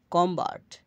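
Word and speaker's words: calm: করা ছয় number rule এল এরপর এম এরপর থাকলে এল প্লাস এম থাকলে পরে ভাওয়েল না থাকলে এল অনুচ্চারিত থাকে যেমন কাম কাম এল এর উচ্চারণ হবে না কাম শান্ত আমস আমস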